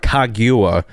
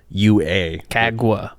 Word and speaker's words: Kagua: this is kaguya sour so it's not kaguwa it's spelled differently it's k-a-g-u-a kagwa kagua gagwa close enough right yeah close